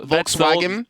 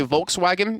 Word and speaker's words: Volkswagen: So if you ever hear like someone say Volkswagen, in English it's Volkswagen, in German it's Volkswagen.